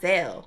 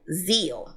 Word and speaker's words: Zeal: of the app, because it's not Zelle. It's Zeal. Zeal. That's how it's pronounced.